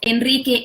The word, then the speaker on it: Enrique: rapido or when it's after a consonant like for example this one like in the name of Enrique Iglesias you know the singer the spanish singer Enrique Iglesias so after this end it is an AR this is also our